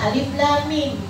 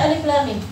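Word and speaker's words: الم: Kenapa dalam awal Al-Insyirah dibacanya Alam Nashrah? Padahal sama loh. Alam sama Alif Lam Mim itu sama. Sama-sama Alif, Lam, sama Mim. Kenapa yang satu dibaca Alam, yang satu dibaca Alif Lam Mim?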